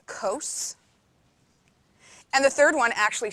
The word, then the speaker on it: cos: The second one is called cos, not cos, cos.